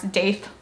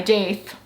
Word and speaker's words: daith: I love it when people put the extra spelling for how I pronounce daith. Duh.